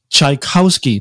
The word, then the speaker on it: Czajkowski: and very special guest with me mr alex tchaikovsky did i pronounce that correctly alex correct absolutely welcome to